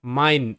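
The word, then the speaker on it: mine: এবার মাইন, এম আই এন ই মাইন, এম তে ম আই এর সাউন্ড আই, ম আই মাই এন তে ন মাইন, শব্দের শেষে ই সাইলেন্ট।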